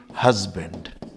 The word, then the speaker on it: husband: This is नॉट हस्बैंड, it's correct pronunciation is basically husband, not say this is husband। एक तरह से कहना चाहिए आधा जय मान लीजिए आप इसको, यूं मान लीजिए, यह आधा जय हल्के से निकलता है, हस्बैंड, हस्बैंड, नॉट हस्बैंड।